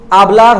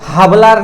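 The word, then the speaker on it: hablar: सो आबलार होता है, हाबलार नहीं होता है एच से।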